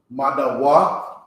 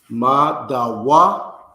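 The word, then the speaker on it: מדוע: y okay y and that word is pronounced madawa okay ma dawah we have three sounds and they're all individual okay so again it's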